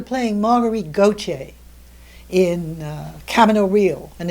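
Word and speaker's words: Camino Real: margarit goce in uh Cameo real and it is cameo realist the the American pronunciation not the Spanish pronunciation the Tennessee Williams play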